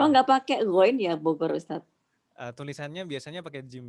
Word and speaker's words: Bogor: Kayak Bogor itu kan tulisan Arabnya biasanya bujur kan gitu. Jangan dibaca bujur, Bogor gitu.